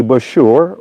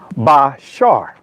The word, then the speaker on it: bashar: Some would say bashure or bashura. The ancient word, and actually pronunciation is bashar.